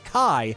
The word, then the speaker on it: chi: The Kingdom Hearts series often uses the Greek letter chi, which the games pronounce indistinguishably with the English word key.